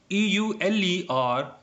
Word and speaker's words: Euler: EULER is pronounced as Euler.